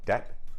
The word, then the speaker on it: debt: So that's why we have debt with a B, even though the B is not pronounced at all.